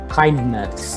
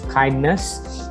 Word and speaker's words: KINDNS: is an initiative called Kindness, and if I just spell it out, that's KINDNS. So that is kind of spelled as kindness.